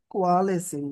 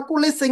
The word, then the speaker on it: coalescing: এখন আমরা এটার উচ্চারণ দেখবো, লিখিত Nullish coalescing. কোয়ালেসিং। হ্যাঁ, কোয়ালেসিং। ওকে, বা কোলেসিং বলতে পারি সহজ ভাষায়, কোলেসিং।